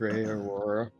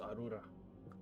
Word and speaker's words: Aurora: Morgoth, Aurora. We back. It's pronounced Arura.